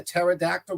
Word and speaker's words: pterodactyl: Do you know that you cannot hear a pterodactyl go to the bathroom? Because the P is silent.